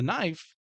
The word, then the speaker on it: knife: that you know the knife there is a K in it if you can see that and you wouldn't know that unless you knew oh the K is silent so some people I